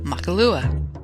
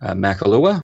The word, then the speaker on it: Makahlua: I mean, it's like people have never heard of a silent H before. Or I've never heard of Kahlua. Or they don't recognize it because of the ma before it.